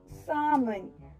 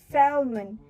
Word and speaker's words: salmon: The first word is salmon. Salmon. People usually pronounce this word as salmon. Salmon. This pronunciation is totally wrong. The correct way to pronounce it as salmon. Salmon. The L to this word remains silent. Salmon.